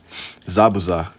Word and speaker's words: Zabuza: You saying it wrong? Zabuza. Like it's like two separate things.